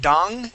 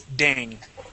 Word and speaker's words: dang: So instead of dong, it's dang. Dang.